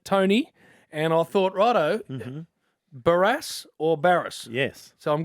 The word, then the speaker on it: Barrass: you want your young BL Sur to be pronounced and barass it is what a legend by the way